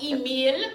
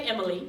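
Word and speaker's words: Émile: That's how you say his name. I won't lie. Emile. Yes, most people say Emily.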